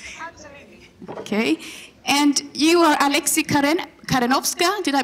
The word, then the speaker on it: Alexy Karenowska: And you are Alexy Karenowska. Did I pronounce that right?